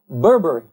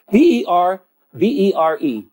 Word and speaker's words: berbere: cooking, and it's called berbere. It is spelled B-E-R. Right. Look. B-E-R-B-E-R-E. Berbere. And it is berbere, really, is it pronounced? And it's a hot pepper sauce.